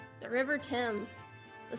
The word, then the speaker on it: Thames: The River Thames. The Thames. It sounds like I thought it does. What is that stupid pronunciation, bro?